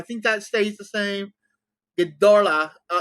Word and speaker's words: Ghidorah: Ghidorah. It's not Ghidorah, actually. People keep saying it's Ghidorah. It's actually Ghidorah. King Ghidorah. That's actually how the Japanese say it, is Ghidorah.